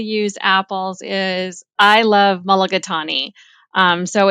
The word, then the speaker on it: mulligatawny: Mulligatawny.